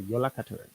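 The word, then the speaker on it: Jóla: And that is a character known as the yo the yol sorry yola the yola is how you actually pronounce this really long kind of crazy name.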